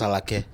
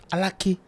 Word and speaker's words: Alake: Why do you pronounce my name as Alake? It's not Alake. What's the correct pronunciation? Alake.